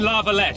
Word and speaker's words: La Valette: We must capture or otherwise deal with Aryan La Valette in order to break the defenders' morale.